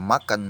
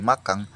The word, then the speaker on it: makan: Jadi selain penambahan huruf G, misalnya tadi pada kata makan menjadi makang, kadang ada juga penghilangan huruf G yang seharusnya di belakang mati NG, tapi jadi hanya N saja, huruf G-nya hilang.